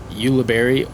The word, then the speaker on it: Ulibarri: there's a lot of confusion on how to pronounce it but it's Ulibarri or uh labarie it's Spanish so you know